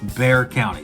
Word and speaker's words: Bexar: x a r but it is not Bexar County it is Bear County so if you're going